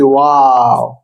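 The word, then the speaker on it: واو: আমরা এবার চলে এসেছি ওয়াও। আমরা ইংলিশে বলি না ওয়াও, তো এটা এমনই হবে। উচ্চারণ ঠোঁট গোল করে উচ্চারণ। উ এবং আমরা যে উ উ এইগুলার মাঝামাঝি ওয়াও ওয়াও।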